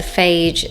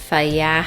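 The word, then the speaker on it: Fage: This is the Phage 0% fat. I know I say it incorrectly. You're actually supposed to say it like that, Faya, I think.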